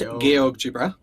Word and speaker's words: GeoGebra: So Sleet asked for me to pronounce it properly, kind of like how you're supposed to pronounce GeoStriber. So it is GeoGebra.